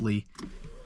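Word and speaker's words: Leigh: at String Lake and Lee Lake. So I think that's how you pronounce that. It looked like it's pronounced Lee.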